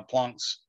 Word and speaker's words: Planck: 34 joule seconds and that's called planck's constant okay it's called plunk's constant named after max plunk okay now that was